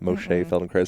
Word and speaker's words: Moshe Feldenkrais: Moshe Feldenkrais, I think is how you say his name.